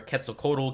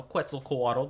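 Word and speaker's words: Quetzalcoatl: um which is where Ketel codal gets his name from or you know quel Kole depending on however you want to say it so these colors are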